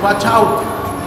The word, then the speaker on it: watch out: No se dice guacha, es watch out.